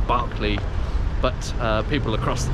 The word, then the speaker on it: Berkeley: of this bit of Mayfair would definitely say Barkley but uh people across the pond and in fact also cockneys tend to pronounce it Berkeley rather than Barclay and that probably ties in with the uh